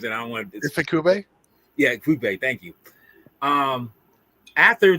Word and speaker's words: Ifukube: Tsuburaya, and Akifubebe, Akira Akifubebe. I don't want to butcher these people's names because they're too valiant to be butchering their names, and I don't want to. Ifukube?